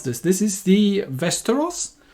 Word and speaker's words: Västerås: this this is the westeros i think the a with a little circle on top is more of an o sound so but yeah this